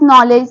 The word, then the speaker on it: knowledge: are the consonant so therefore k sound is a low sound n Sound is a high sound therefore K is silen thing here and well pronouncing it is coming has knowledge and another E is